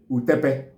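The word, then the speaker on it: utapa: some parts of the Igbo land call it utepe, U-T-O-B-O, utobo. Utepe is spelled as U-T-A-P-A.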